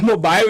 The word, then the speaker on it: mobile: porque lê do inglês, mas não é mobile em inglês, o E normalmente é mudo. Fica a dica aqui do inglês, o E normalmente não se lê em inglês, então é mobile, tá?